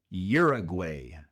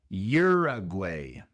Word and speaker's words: Uruguay: En inglés se dice Uruguay. Uruguay. La u al principio se pronuncia como y y r year.